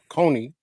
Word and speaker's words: Coney: guest, Teresa Coney, correct? Coney. Yep.